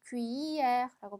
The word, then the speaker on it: cuillère: 자, 얘가 조금 발음이 어려워요. Q, E, R. 그죠? E, L, L, E가 되면 우리 L 발음이 나는 게 아니라 이으처럼 발음된다 그랬어요. 그죠? 이에르처럼 발음되죠. cuillère라고 발음해 주시면 되겠습니다.